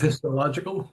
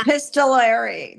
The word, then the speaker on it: epistolary: And this is um it's an epis how do you say that word? Epistol. Yes. Epistolical. No. Epistolary. Epistolary. Lyn is correct.